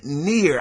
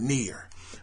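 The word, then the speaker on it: NieR: next Story the game near I never pronounced this right but it's the game that's spelled n i r um I'mma just call it near because that's what it sounds like but the game near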